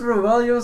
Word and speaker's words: Roelio: Is that how you say it?